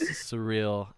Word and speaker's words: Suriel: of mine uh yeah it's surreal it's it's like the word oh yeah okay okay